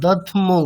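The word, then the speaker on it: दध्मौ: প্রৌন্ড্রম দধৈমহি। আচ্ছা দধ্মৌ, কেমন? দ ধয়ময় ঔকার, তাহলে দধ্মৌ।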